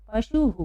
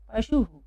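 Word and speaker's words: पशुः: उसमें विसर्ग लगा दिया, तो ये छोटा ओ की मात्रा है, इसलिए ये हुकार हो गया, है ना। तो हम इसको पढ़ते समय क्या पढ़ेंगे? पशुहु। क्या पढ़ेंगे? पशुहु।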